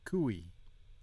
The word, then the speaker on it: cui: say it to sounds when you say it together it sounds like kui keep in mind the